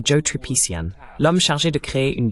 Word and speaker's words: Tripician: J'ai oublié de vous demander si vos nom de famille se prononce Tripician. Est-ce correct ? C'est tripiciant. D'accord. Presque. C'est tripiciant.